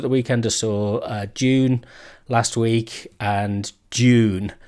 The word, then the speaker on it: Dune: of films at the weekend I saw uh June last week and June not Dune I'm not on you know the Americans a